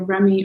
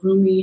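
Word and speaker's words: Rumi: yet um but anyway you're remy or roomy depending on how you like to pronounce it oracle card for this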